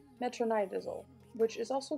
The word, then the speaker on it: metronidazole: about it is an anabolic and it is pronounced metronidazole metronidazole which is also called flagyl so these are